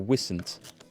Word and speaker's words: Wisent: Is it Y with a long Y sound or Wisent with a short I sound?